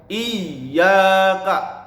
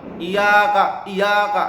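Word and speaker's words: إِيَّاكَ: Iyyaka, harus dimasukkan, harus ditekan karena ada tasdid. Iyyaka, jangan iyaka, salah karena di sini ada tasdidnya ya.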